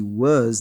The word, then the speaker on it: was: Was pronuncia-se was, W tem som de U, e o S com som de Z.